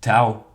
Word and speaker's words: T'au: T t u d'ailleurs les Anglais prononcent Tao donc t o W techniquement mais bon voilà ils